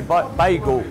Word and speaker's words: bagel: I say bagel, but we've had people say bagel, and arguments in the shop how you say it.